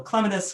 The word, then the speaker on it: Clematis: I say clematis because I like the root word clementine that it comes from.